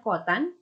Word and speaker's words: cotan: Dan terakhir ada yang namanya kotangen, kita singkat cotan, dibacanya kotan, atau disingkat juga CTG.